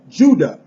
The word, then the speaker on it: Ouidah: It says, Africans living there today pronounce the name of the city in their language as Judah, just as the word Judah, j u d a h in English.